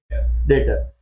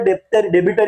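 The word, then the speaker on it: debtor: था, बट है क्या, ट्रांजेक्शन होता है, इसको डेट, ये बी साइलेंट, अब क्या है, डेटर। क्या बोलोगे, डेटर।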